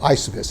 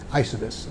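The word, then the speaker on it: Eysuvis: Okay, it's called Isovis, is how you say it. Like, how do you say that word? Isovis, okay?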